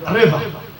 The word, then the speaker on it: رضا: رضا RAZA، رضا. یہ رضا غلط. رضا عربی میں کوئی لفظ نہیں. نام آپ کا رضا ہے، اس کو بے شک سپیلنگ نہ بدلیے، اس کو رہنے دیجیے. مگر امام کا نام رضا نہیں، امام کا نام ہے رضا. یا RE سے ہوگا یا RI سے. RA سے بالکل غلط.